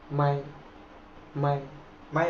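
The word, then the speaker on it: 买: ওয়ার্ডের উচ্চারণ কিন্তু একই এটা হচ্ছে থার্ড টনের ব্যবহার উচ্চারণ হবে এরকম মাই মাই মাই মানে হচ্ছে কেনা ইংলিশ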